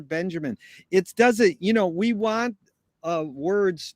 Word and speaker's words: Benjamin: It's just like Walter Benjamin and people, even Laurie Anderson. It's Walter Benjamin.